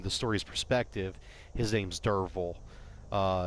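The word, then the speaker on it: Derfel: stories perspective his name's Derval it's actually spelled de f rder fel but the F is pronounced as like a V sorry I had a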